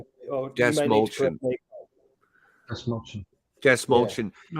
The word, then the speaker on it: Dastmalchian: How do we pronounce his last name? It's quite unusual. Dastmalchian. Dastmalchian.